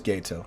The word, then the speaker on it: Gato: Like Gato, like Spanish. Or am I just wrong? Gato. So it is Gato.